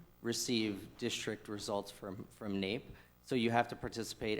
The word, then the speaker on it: NAEP: of educational progress so the naep pronounced nape and we get those